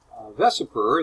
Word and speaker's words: VSEPR: result from our work for some of them vesper that's how it's pronounced assumes that the shape of a molecule